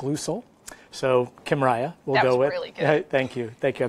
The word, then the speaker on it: Kymriah: couple of different names the easiest one to pronounce is Kym Riya it's also got a generic name which is tissa Jen like Lou sole so Kim Riya well thank you thank you I've been practicing